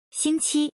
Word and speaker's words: 星期: This word is pronounced as follow. 星期.